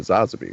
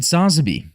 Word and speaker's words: Sazabi: they did with the new Gundam and the Sazabi, right? Yeah, and also you said Sazabi, which is probably the correct pronunciation.